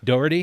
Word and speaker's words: Dougherty: It's Joe Dougherty. Is that how I pronounce it right? Dougherty. Yeah. From the State of Utah